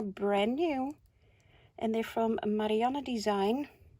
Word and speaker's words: Marianne Design: They're brand new, and they're from Marianne Design. Dutch lady, that's why I pronounce it in the Dutch way.